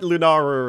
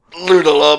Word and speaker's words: Lunala: I've always thought it was pretty hard, although I do like Lunara as well. Lunala, mate.